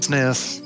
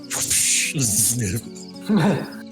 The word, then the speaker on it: Zniw: Sniff. Zniw. how did W get to be pronounced F? I think it's like a soft V because like.